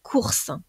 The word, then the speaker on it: cours: le mot court apprentissage pensez bien que le s est muet donc là on avons